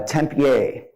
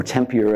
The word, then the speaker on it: Tempier: named uh etienne uh tempier or tempier i guess we don't use the french pronunciation 1277 bishop paris he